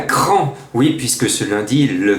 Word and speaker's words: Craon: et je suis à Cran. Oui, puisque ce lundi, le quintet se dispute à Craon, ou plutôt à Cran, lorsqu'on prononce bien le nom de cette ville.